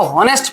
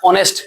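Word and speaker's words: honest: हम लोग बचपन में इसको होनेस्ट पढ़ते थे। बहुत सारा आज आज भी लोग पढ़ेगा क्या? होनेस्ट। लेकिन रियल में इसको पढ़ा जाता है ऑनेस्ट।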